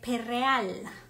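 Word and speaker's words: Perréal: Entonces, el Perreal, con acento en la E, Jean Perreal, que él se encontraba en Milán.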